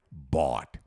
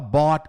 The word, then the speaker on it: bought: Titi, eu não consigo falar bought, bought. Como não? Você sabe falar bota em português?